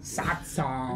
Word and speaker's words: Satsang: Satsang. Yeah. can you, wait, just so we can. Satsang. Can you spell it out S-A-T-S-A-N-G.